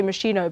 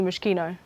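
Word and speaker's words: Moschino: Do you know I actually I used to say machino, but it's definitely mushino.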